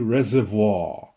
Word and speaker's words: reservoir: And this body of water is called the Oahe Reservoir. That's how you say it in French, reservoir. But in South Dakota, they say reservoir. Let's go fishing at the Oahe Reservoir.